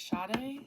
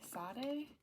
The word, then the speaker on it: Sade: was hearing earlier um how do you say it shade Sade No Ordinary Love that